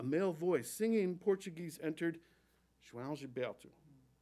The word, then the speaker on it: João Gilberto: The opening consonant J sounds like Zsa Zsa Gabor, or the OAO form a diphthong, kind of like ow with a swallowed ending.